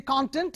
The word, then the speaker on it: content: material what is the content of the speech what is the content of the lecture you can say if you say if you change the stress to the second syllable it becomes subjective or verb for example